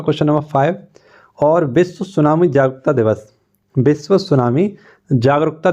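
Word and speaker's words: tsunami: आई ठीक है तो टी इसमें क्या रहता है आप सभी को पता है साइलेंट रहता है हम लोग लिख नहीं पाते हैं लेकिन इसको बोलते क्या हैं सुनामी 2004 में एक घटना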